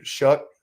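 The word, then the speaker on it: Shough: Shuck, I think is how you pronounce it. It's Shuck. He's been perfectly fine for Louisville after they lost Jack Plummer.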